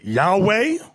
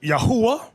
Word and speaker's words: Yahweh: known to them now depending on your form of hebrew you have some people announcing yahweh another group pronounce it yahuwah we were taught yahweh